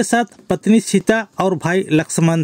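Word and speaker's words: लक्ष्मण: সীতা ও ভাই লক্ষণ হিন্দিতে হবে ভাই লাক্সমান বাংলায় উচ্চারণ লক্ষণ হিন্দিতে উচ্চারণ লাক্সমান ছিলেন থে সবাই একসাথে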